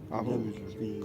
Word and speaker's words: Wawel: The artist busy at work with, how do you pronounce that? Wawel? Wawel.